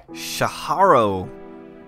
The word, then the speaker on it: Tjarho: We're kicking it off this week by visiting Tjarho, is apparently how you pronounce his name.